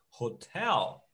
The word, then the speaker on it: hotel: O R de rato, que em inglês é o H que tem esse som.